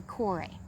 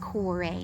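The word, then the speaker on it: Kore: her name was actually corey spelled k-o-r-e but it's pronounced corey not core um and corey just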